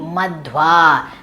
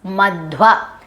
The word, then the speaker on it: Madhva: Madhu plus va in this addition, the ukara, the syllable u, gets diminished because it is a name mentioned in the Vedas. And as per the metric chandas of the Vedas, the Ukara is diminished and it becomes Madhva.